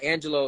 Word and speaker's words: Angelo: want to get fancy, but yeah, Angelo is fine.